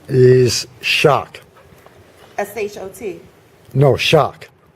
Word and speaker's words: Schoch: No, Shock. Spelled how? SCHOCH. Shock. Yeah, it's pronounced like the electrical shock.